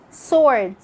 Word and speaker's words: sword: wrist wrinkle rub and it's also silent in some of the most common words like when you say to sword who answer that's it for today